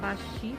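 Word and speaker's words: 橋: torôs, temos as pontes, hashi. Quando é uma ponte de pedra, geralmente você vai ouvir falar a pronúncia bashi, porque vai ter outra palavra antes da pedra, né, do significado da ponte.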